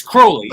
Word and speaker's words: Crowley: Well, it's it's Crowley.